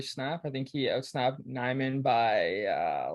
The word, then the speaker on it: Nijman: It's like spelled like Nijman, but I think it's Mhm. pronounced Nyman. Yeah.